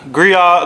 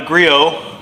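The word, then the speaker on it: Griot's: I don't like it the gria the griot I almost said it wrong again Grio you can also find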